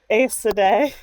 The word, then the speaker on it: Aes Sedai: Yeah, speaking of the taint, Billy Zane helpfully explains the taint and the breaking caused by the Aes Sedai. The one true pronunciation.